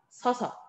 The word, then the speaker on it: 서서: 서, 어서가 아니라 서서. 이렇게 선택하게 됩니다.